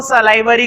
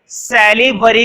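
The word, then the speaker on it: salivary: देखो इसको सलाइवरी gland बोलते हैं या फिर सैलिवरी ग्लैंड, वो सब कुछ तुम लोगों का अपना काम है कि कैसे प्रोनाउंसिएट करना है। इसमें कोई लड़ाई वाली बात नहीं है कि ऐसे प्रोनाउंसिएट करें या वैसे प्रोनाउंसिएट करें, सही होना चाहिए, स्पेलिंग ठीक होनी चाहिए।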